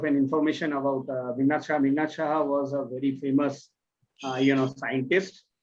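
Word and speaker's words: Meghnad Saha: It was just to pronounce the name of the college. It's okay. It was Meghnad Shaha Institute of Technology.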